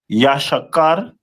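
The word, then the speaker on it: יששכר: The next one is the tribe of Issachar which is the Mexicans of today and their name is pronounced in the Hebrew as Yashakar which means he is hired.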